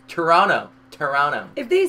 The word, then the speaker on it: Toronto: And you ask them, how do you say Toronto? If they say Toronto, it's wrong. It's Toronto.